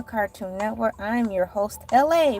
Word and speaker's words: Elay: I'm your host, LA, pronounced like LA, like the city.